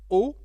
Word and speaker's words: aux: French speaking countries so o is the contraction of a a ux because Al doesn't exist in French we say o instead with the X for the plural but we don't pronounce it oet okay so let's